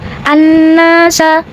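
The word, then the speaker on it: النَّاسَ: Maka cara bacanya alif lam tidak kita baca atau disebut dengan idgham syamsi seperti annasa.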